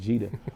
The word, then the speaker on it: Gidda: the g d da it's not GA it's Jeter so it's I am. jeta that's the Instagram but